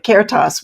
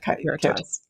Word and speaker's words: Caritas: So Caritas coaching, what is that? Am I pronouncing that correctly? That's right. Caritas, Caritas, either way.